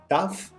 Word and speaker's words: tough: Imagine you are pronouncing the word stuff, que significa cosas. It's that same sound.